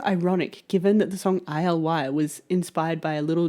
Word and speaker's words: ILY: And the message that I just happened to get on the very first try was I love you, as in ILY, as in rhymes with sky and alive.